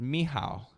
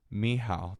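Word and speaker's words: Mícheál: It's pronounced Mihal. It's Irish for Michael. Mihal.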